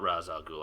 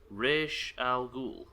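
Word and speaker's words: Ra's al Ghul: Fucking fun fact: Raz is pronounced Raish. Wait, in Batman, you mean? Raish Al Ghul.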